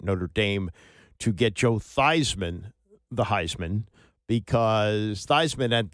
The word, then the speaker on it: Theismann: So the player known as Joe Theismann became Joe Theismann to rhyme with Heisman, and they came up short to Jim Plunkett.